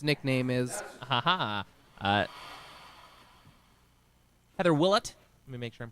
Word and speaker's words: Willott: can guess what its nickname is uh heather willett let me make sure i'm pronouncing that right willot heather willat thank you very much i apologize